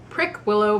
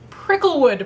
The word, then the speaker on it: Prickwillow: week's book is the scandalous sisterhood of prickle prick willow place by julie berry all last week when